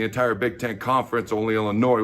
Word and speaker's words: Illinois: Okay, they had given up the second most amount of sacks in the entire Big Ten Conference, only Illinois, where the S is silent, was worse.